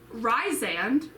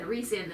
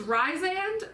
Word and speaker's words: Rhysand: properly say it um ryzen was how i pronounced it i said rhysand this whole time it was ryzen but then i would